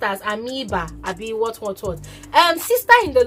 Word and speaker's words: amoeba: Now somebody came to correct me on my YouTube channel yesterday that is pronounced as Amoeba, Abi what.